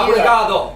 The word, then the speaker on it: obrigado: Obrigado.